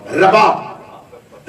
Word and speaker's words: رباب: اس شہزادی کی والدہ گرامی جناب رباب, اس کا تلفظ اردو زبان میں اکثر رباب کہا جاتا ہے. پیش کے اعتبار سے اسے نہیں پڑھیں گے, پیش کے ساتھ پڑھیں گے تو غلط ہو جائے گا. رباب پیش کے ساتھ پڑھے تو ساز کو کہتے ہیں, اگر زبر کے ساتھ پڑھیں گے تو تلفظ ٹھیک ہے.